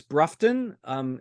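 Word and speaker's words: Broughton: I'm going to call it, say, Bruce Brufton. Is that Yes. how you pronounce it?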